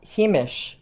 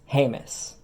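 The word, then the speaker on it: Jemez: nussbaum and the young woman is of the heemish pueblo now himish is the traditional pronunciation according to the himacha pueblo website whereas the modern pronunciation is heymus and they are a federally recognized tribe consisting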